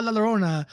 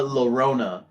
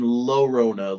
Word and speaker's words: Llorona: But no, I thought you said La Llorona, as in Lorona, like you were pronouncing the L's instead of with a Y.